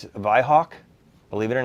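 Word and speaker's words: Weihrauch: this is our uh you call wine Rock that's in English the wine Rock in German it's V Hawk Believe It or Not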